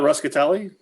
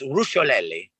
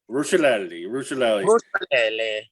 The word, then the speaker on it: Rusciolelli: It's not Ruscatelli? It's Rusciolelli. Rusciolelli.